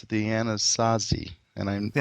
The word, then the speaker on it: Anasazi: For the longest time, they were known, I believe you pronounce it the Anasazi. The Anasazi?